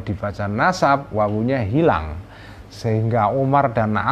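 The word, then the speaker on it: عمر: kata Oma Rain rok-rok setelah rok gak ada wow ya itu bacanya Umar tapi kalau setelah Road dawu itu bacanya amrun jadi bisa sahabat Amr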